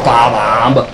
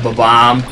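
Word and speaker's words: Bob-omb: Mario enemy bomb, people, most people pronounce it ba-bomb, but yeah, ba-bomb.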